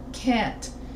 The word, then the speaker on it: can't: pronounced can or can can't is usually pronounced with the same vowel as ant can't and native speakers usually drop the the T can't you you can barely hear it using can with